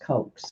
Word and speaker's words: Koch: again Mary Jo and it's either cotched I had a new a kid who spelled his name that way and we pronounced a Koch but I've also seen it pronounced coax so Mary Jo Koch